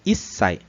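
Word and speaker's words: 一歳: A gente viu que um era ichi, E aí virou Issai.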